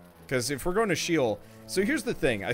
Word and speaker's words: Sheol: Yeah, I never heard of anybody pronounce Sheol like that. Well, it's probably Shoal. But the problem is I shuck at pronouncing biblical names.